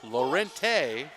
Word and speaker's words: Lorente: Lorente. I've been not pronouncing that e all game.